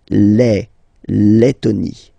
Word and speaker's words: Lettonie: So remember when you've got this E and then a double letter like that, T, okay, then you will have to open your E and it will become E, Lettonie. La Lettonie.